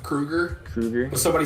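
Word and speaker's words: Kroeger: Kroger right you know his last name is actually pronounced Krueger Krueger but somebody said Kroger like like Freddy yeah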